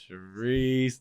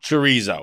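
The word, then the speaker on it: chouriço: It's not chorizo. Well, that's what I was. Yeah. No. Is it spelled like chorizo or? It's churrico is how it's spelled. It is not chorizo.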